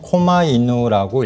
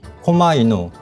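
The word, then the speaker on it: 狛犬: 이거를 뭐라고 하냐면 박견이라고 하고요. 실제로는 코마이누라고 읽습니다. 코마이누, 박견.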